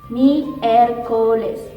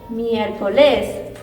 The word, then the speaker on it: miércoles: So when we read, we are going to pronounce this part stronger, okay? So it is miércoles, okay? You can notice this difference, miércoles or miércoles, okay?